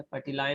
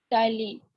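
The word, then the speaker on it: ptyalin: P silent है, पटिलाइन नहीं बोलना है, टाइलिन बोलना है। Tyline.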